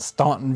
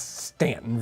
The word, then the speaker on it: Staunton: Probably there are people in Staunton, Virginia, who want to help me out, and it's like, no, it's not Staunton, Virginia. It's Stanton, Virginia.